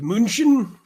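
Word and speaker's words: München: crazy as we know Munich is Munchen all right are you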